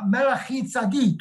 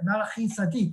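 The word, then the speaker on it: מלכי־צדק: And Melchizedek, literally the word is Melachi Tzadik, is how you say it, Melachi Tzadik, which means he is the king of righteousness, all right?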